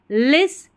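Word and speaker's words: listen: यू L full careful लिस ठीक है एल आई एस टी यहां पर टी साइलेंट है तो एल आई एस टी ई इसको पूरे को लिस पढ़ देना है एन आई एन जी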